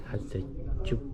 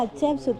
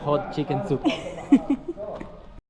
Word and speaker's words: Hatshepsut: Un egipcio se rió de mí y me dijo que yo pronunciaba Hatshepsut como... Me dijo que parecía china porque parecía que estabas diciendo hot chicken soup.